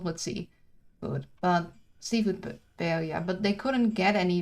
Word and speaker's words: paella: I pronounced it, and you need to pronounce the double L as a J, but I'm pretty sure I'm still saying it wrong. Paella is, I believe, how you're supposed to say it, and I'll still be butchering that.